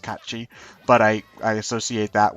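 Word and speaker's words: Cait Sith: I know it's it's really weird calling him Kate Sith cuz I know he's supposed to it's supposed to be pronounced catchi but I I associate that with the the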